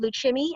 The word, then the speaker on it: Lukumi: Here's a photograph of the Cuban dancing dolls doing their, is it Luchimi? Am I pronouncing that Yes, right? yes, Lukumi, yeah.